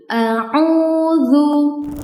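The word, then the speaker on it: أَعُوذُ: Nah, huruf dalal makhrajnya keluar dari ujung lidah bertemu dengan ujung gigi bagian atas. Sehingga cara bacanya seperti ini. Dzu, duzu. Audzu. Audzu bukan. Au auu bukan ya, tapi auzu.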